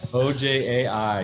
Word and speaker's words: Ojai: you say oh hi and where is it ojai yeah it's uh it's a little town it's